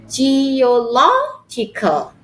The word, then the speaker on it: geological: and with a and we put the stress in the third syllables before end 1 2 3 geological not g no not